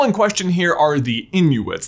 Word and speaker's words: Inughuit: The people in question here are the Inuits. That's Inuit, I-N-U-G-H-U-I-T, which as far as I can tell is pronounced the same way, but if you can correct me, please do so in the comments.